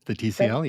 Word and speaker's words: TCL: a tickle 75 I it's pronounced tickle the TCL yes the TCL yeah the tickle the